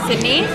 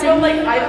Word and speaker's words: Sydney: My name is Sydney. This is Sydney. It rhymes with kidney.